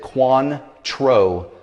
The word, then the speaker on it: Cointreau: So for those of you that are wondering how to pronounce this, you pronounce it Kwan-Troh.